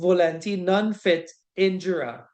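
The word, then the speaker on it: volenti non fit injuria: It is pronounced volenti non fit injura.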